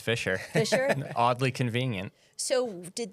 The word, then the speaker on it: Fisher: It's the same way. It's Fisher.